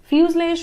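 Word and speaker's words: fuselage: फ्यूजलेज मतलब the main body of an aircraft. इसका कुछ प्रोनाउंसिएशन थोड़ा सा अलग है। फ्यूजलेज मतलब ये जो जी है ये ज्यादा प्रोनाउंस नहीं होगा, ओके, इसलिए इसका प्रोनाउंसिएशन थोड़ा डिफिकल्ट है।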